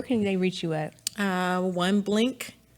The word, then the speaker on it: One BBlink: One Blink, one BBLINK. You can see it down there. So the B is silent.